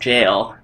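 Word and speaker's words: gaol: believe the word gala will there is actually pronounced jail that's just a weird like British way of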